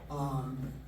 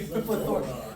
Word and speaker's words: PLeThorA: we like to put the emphasis on the wrong syllables.